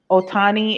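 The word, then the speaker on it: Shohei Ohtani: there but he basically his name is s-h-o-h-e-i ohtani and he says the apology and i'm if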